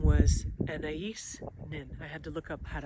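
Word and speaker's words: Anaïs Nin: amongst many other things, and her name was Anais Nin. I had to look up how to actually say that because I didn't know how to say her name. Anais Nin.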